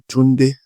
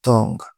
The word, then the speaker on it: Tunde: The name is supposed to be Tunde, not Tong.